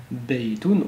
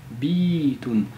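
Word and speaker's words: بيت: Et donc, on aurait pas prononcé beitoun, on aurait prononcé bitoun. Et donc là, on a une prolongation, un allongement euh de la kasra par le ya.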